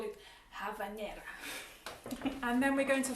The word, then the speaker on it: habanera: city of havana because b in spanish i believe is pronounced as v so we should call it havanera and then we're going